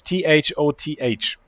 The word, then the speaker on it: Thoth: It is Thoth. How do you pronounce that?